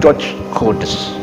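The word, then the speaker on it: Georges Cœdès: mulai dari perguruan tinggi sampai sekolah dasar, semuanya mengacu pada satu orang ini, orang Perancis ini, Georges Codes namanya, tulisannya gitu, bacanya Georges Codes, sejarawan asal Perancis yang bertugas di Thailand pada waktu itu untuk mengotak-atik sejarah yang ada di Nusantara.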